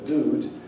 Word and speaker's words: dude: And dude is the way in which they pronounce it. You also find this effect, this yod dropping effect, in some British regional accents.